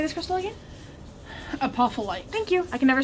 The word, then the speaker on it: Apophyllite: Apophyllite.